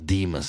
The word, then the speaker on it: Demus: spell correctly Demus Whisper, because it sounds Demus with an A, but actually it's Demus. Yeah. Correct? Correct. Whisper, Whisper. So, pronounce Demus, I guess, phonetically.